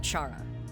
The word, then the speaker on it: Chara: But consider this, if we were to call Chara, with the H being silent like the word chaos, the thing that Chara loves to bring, then their name takes on a completely new meaning.